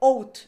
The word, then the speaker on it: out: se escribe con o out es que se escribe Así tal cual out pero se pronuncia con a a a totalmente española outen out loud sería